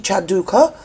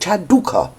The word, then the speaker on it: Chanduka: and it's Dr Sophie chanduka and I can say her name at last I've learned it I kept saying it Chanda Prince Harry is under